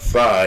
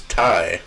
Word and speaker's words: Thai: the girl corrected him that is not Phi it's Ty he just stood up